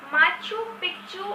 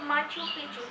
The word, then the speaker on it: Machu Picchu: This is Machu Picchu, or you can say Machu Picchu. C is sometimes C is silent.